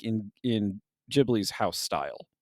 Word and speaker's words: Ghibli: a big thing, but in Japanese, they do say Jibli, even though that's not actually how the Italian word is pronounced.